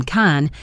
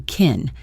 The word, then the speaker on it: can: The word can is often unstressed in a question like this, and its pronunciation changes from kan with a broad A sound to kin with a short I sound.